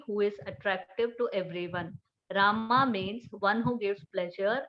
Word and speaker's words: Rama: mantra or great mantra krishna pronounce krishna and rama rhymes with drama are sanskrit words hare